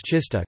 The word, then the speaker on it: czysta: Polish words czysta, clean, F, pronounced with an affricate, T, and terzista, 300, pronounced with a sequence, T, are an example of a minimal pair based on such a contrast.